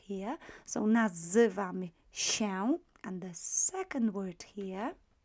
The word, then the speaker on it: się: That's quite important to say that, because if I pronounce this word slowly, slower, się, I would pronounce it exactly as as it would be pronounced. However, if I start speeding up with my speech, speaking quickly, as if you would if you were in a conversation with somebody, we tend to cut this tail and pronounce L as E in quick speech.